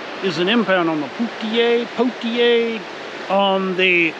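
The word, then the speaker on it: Poteau: Wister Lake is an impound on the Poutier on the Poto River. That's how you pronounce it.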